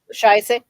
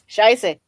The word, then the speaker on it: Scheiße: How do you, Scheisse? Is that how you say it, Rosie? Scheiße. Scheisse? Scheisse or Scheisse? Scheiße.